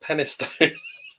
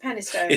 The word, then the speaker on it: Penistone: It's pronounced Penistone. It is Penistone.